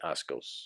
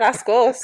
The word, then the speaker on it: asco: Because I've heard you say a couple of times this week that gives me Ascos. Is that how you say it? Not Ascos. How do you say it? Asco? Yeah.